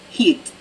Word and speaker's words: Hit: hit would do um its heat heat sorry yeah I think it's so she's pronouncing it yeah mm-hmm know that my community manager was just asking how you pronounced heat heat did you chiller it's Hungarian for faith she heard you now